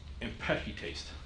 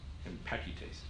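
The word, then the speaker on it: ἐμπαῖκται: The word here for scoffers is impechites. Impechites. Yeah, anyways, that's the word. You can see it there. That's the pronunciation for it.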